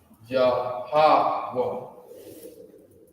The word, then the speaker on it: Yahweh: That's how you would pronounce it is Yahweh.